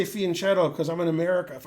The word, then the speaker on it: fianchetto: like a Y, and it's not shadow, it's keto. So fianchetto. That's how you do it. Practice. But I just say fianchetto because I'm in America.